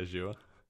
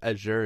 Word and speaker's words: Azure: Oh, Azure? Yeah, Azure.